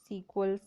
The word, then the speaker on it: SQL: जैसा मैंने आपको बताया, इसको है, ये पढ़ने में SQL है, पर इसको प्रोनाउंस हम सीक्वल से करते हैं, ठीक है।